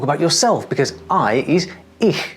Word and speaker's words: ich: Now, my best trick for this sound for English speakers is to say the word "hue" very slowly. Here, listen to me do it. Hue. Hue. Hue. You hear that? That sound at the beginning of hue, which to me sounds kind of like an air mattress with a leak, is exactly what we're going for.